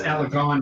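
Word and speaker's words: Alaghon: cross reference by alagon al a g h o n corrects me on how to pronounce that uh but that's well it's alagon now Uh nice that joke for Father's Day for dinner.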